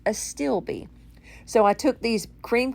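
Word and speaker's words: astilbe: where they pronounce it for you and it's pronounced a stilby so i took these cream color to steel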